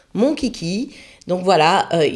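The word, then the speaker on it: Monchhichi: maintenant mon kiki ça ça s'écrit mon chichi mais ça se prend ennonce mon kiki donc voilà il y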